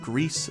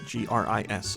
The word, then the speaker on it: Gris: There is Best Art Direction, which has nominated Control, Death Stranding, Gris, G-R-I-S, or Gris, depending on how you say it, Sayonara Wild Hearts, Sekiro, and The Legend of Zelda Link's Awakening.